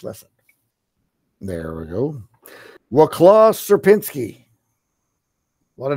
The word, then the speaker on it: Sierpinski: So there, if you need to listen to the correct pronunciation, you can click there and hear Sierpinski, but that's the pronunciation.